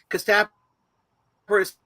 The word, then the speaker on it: Kasterborous: We had many debates amongst the con staff about how to pronounce it, but Kasterborous is the preferred one, and just to a